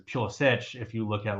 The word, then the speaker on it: Pulisic: I'm aware, but it's like Pulisic or Pulisic, right? There's the Americanized way that it is. Yeah, it's Pulisic in American, but it's Pulisic if you look at like Croatian or something.